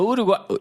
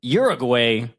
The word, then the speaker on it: Uruguay: oh get it but uruguay uruguay uruguay uruguay that's how I say it thank you that's